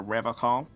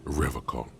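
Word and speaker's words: Revachol: pronounces Revocol with a hard K, unlike other people. Oh, God, okay, let's go down the list. You said Revocol? I like to pronounce it the hard way. The old way. The Vespertine way.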